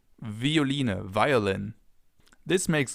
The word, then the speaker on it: Violine: It can either be pronounced like the F as in Veilchen, Veilchen, or like a V as in Violine, Violine, violin.